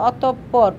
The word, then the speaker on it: অতঃপর: ঠিক আছে, বিসর্গের সাহায্যে ধ্বনির দ্বিত্ব উচ্চারণ বোঝায়, কীভাবে, বিসর্গের সাহায্যে ধ্বনির দ্বিত্ব উচ্চারণ বোঝায়, যেমন অতঃপর উচ্চারণ করতে অতঃপর, প্রাতরাস, প্রাতরাস।